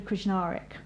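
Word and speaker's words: Krznaric: let me start with roman krishnarik you pronounce every letter we've learned that because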